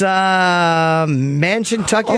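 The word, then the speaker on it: Mashantucket: It's Mansiontucket.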